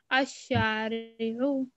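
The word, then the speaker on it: الشارع: Lam is silent. Al-Shari'u.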